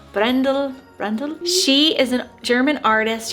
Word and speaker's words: Brändle: I think it's Bine Brändle, A with an umlaut, so Brändle.